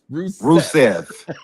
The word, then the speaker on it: Rusev: Can you please tell him how to pronounce the man? Rusev.